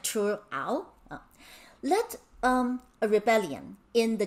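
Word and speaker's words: Triệu Ẩu: This is really difficult to pronounce in Vietnamese. It's something like Chu Ao.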